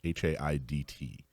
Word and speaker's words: Haidt: I believe it's pronounced Haidt, Haidt, and he wrote a book not long ago, about 10 years ago, that just completely and totally revolutionized political messaging.